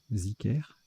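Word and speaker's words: dhikr: Alors, ça se prononce Zicker, ok, Zicker, et ça s'écrit D-H-I-K-R ou Z-I-K-R.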